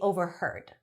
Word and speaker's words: overheard: He says he does not want to be overheard. Overheard. Now we pronounce the H.